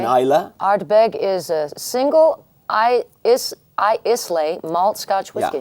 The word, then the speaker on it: Islay: Ardbeg is a single Islay malt Scotch whiskey. Yeah, you would pronounce it Islay.